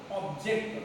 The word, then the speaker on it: object: First rule is called two syllabic word, noun, stress on the first syllable, my dear students. Whenever the two syllabic words are there, while we are pronouncing the two syllabic words, when it is the noun, we have to stress on the first syllabic word. For example, object, that is word. Object, when you treat it as a noun, how you have to pronounce, that is very important, my dear students.